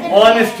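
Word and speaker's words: honest: ঘন্টাওয়ার এক ঘন্টায়ার আওয়ার একজন সৎ ব্যক্তি অনেস্ট ম্যান এখানে এখানে উচ্চারণটা কি হচ্ছে ভাল সাউন্ড হচ্ছে যার কারণে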